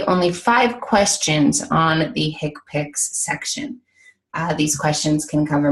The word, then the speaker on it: HCPCS: so keep that in mind k picks it's pronounced k picks but a stands for healthcare common procedure coding